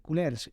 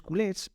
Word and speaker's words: culés: se les empezó a llamar culers con r culers es decir en Catalán culo y ahí bueno la pronunciación es cules Y entonces empezó a